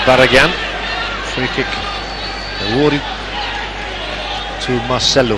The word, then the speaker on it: Marcelo: Free kick awarded to Marcelo. Well, Marcelu, as the Brazilians pronounce an O at the end of their name.